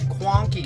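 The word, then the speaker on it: Cuanki: I'll be doing one very soon that is called, it's spelled C-U-A-N-K-I. This and that Quonky stuff are popularized in, I don't know if it's a region or what do you call it?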